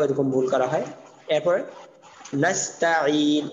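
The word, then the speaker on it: نستعين: এরপর নাস্তাইন, অনেকে নাস আইন বলে, নাস ত, এখানে তা ত হবে না, নাস্তাইন এবং আইন উচ্চারণটা চাপ দিয়ে বলতে হবে।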